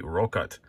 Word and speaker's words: Rokot: It is the Rokot, and I did make sure I'm pronouncing that correctly.